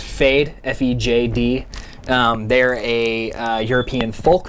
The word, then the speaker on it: Fejd: Got a band, I think I'm pronouncing it correctly, it's Fejd, F-E-J-D.